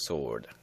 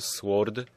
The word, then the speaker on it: sword: Loading the long sword. Pamiętajcie, nie czyta się sword, tylko sword. Long sword, a nie long sword.